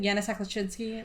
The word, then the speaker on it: Yanasak-Leszczynski: My mouth always wants to roll Yanasak and Leszczynski into one word, and then I have to stop myself because that's how my family pronounces it. Yanasak-Leszczynski, like it's one.